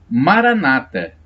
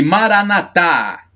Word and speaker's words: Maranata: E temos uma expressão do dialeto de Jesus, o aramaico, que diz o seguinte: Maranata, pronúncia dos protestantes, e Maranatá, acentuação no último A, pronúncia dos católicos.